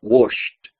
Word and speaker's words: washed: La pronunciación es como si saliera una T de la garganta, washed, washed, ¿sí? Como entre una T y una D.